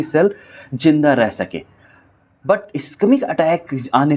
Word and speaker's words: इस्केमिक: पहले टाइप की बात करते हैं तो इसको बोलते हैं, हम प्रोनाउंस करते हैं इस्केमिक।